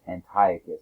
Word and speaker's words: Antiochus: monotheistic faith but yet antiochus iv sometimes pronounced antiochus it depends on your background um trying to have